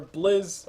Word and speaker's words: BZZ: On this Clinks, who's playing the primary farmer, Blizz or BZZ, perfect. That's how you pronounce his name, BZZ.